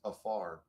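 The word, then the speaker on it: עפר: So, in Hebrew, the word dust is pronounced afar.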